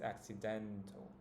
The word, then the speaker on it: accidental: the last syllable right in English it's accidental the den sounds the strongest accidental in Spanish it